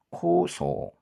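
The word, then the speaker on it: 高層: 고층. 층이 높다는 거죠. 네.고 뭐 코일 거 같은데요. 코. 그리고 층. 이것도 문제가 여기 끝에가 우가 나와야 되니까이 앞에 있는 건 분명히 5단이 나올 거예요. 츠는 사행으로 바뀌거든요. 그러니까 사행의 5단. 소겠네요. 소 그죠? 요거 두 개가 소일 테고 그 소에다가 장음으로 우가 붙으니까 소우 즉 소 그렇게 되겠네요. 코소 코소 이게 바로 고층입니다.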